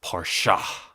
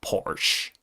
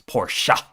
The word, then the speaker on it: Porsche: He was from the homeland, Germany, and he said, it's Porsche, not Porsche. Stop saying that Americanized version of Porsche. It's Porsche.